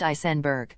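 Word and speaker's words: Aisenberg: below her right shoulder her last name is pronounced isenberg Hillsboro County Sheriff's Office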